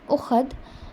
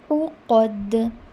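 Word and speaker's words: العقد: Fil ukhad is not the correct pronunciation. If you are reading ukhad, that means you are pronouncing alif or hamza, not ain. When you are pronouncing ain, it should be uqad.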